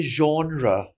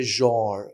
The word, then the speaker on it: genre: myself, I'm telling, ask me, like Americans will say genre, and a Right. British person will say genre or something like that. So Right. more closer to the French pronunciation.